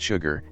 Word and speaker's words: Chigurh: The main characters in the film are Llewellyn Moss, Anton Chigurh, pronounced Sugar, and Sheriff Bell.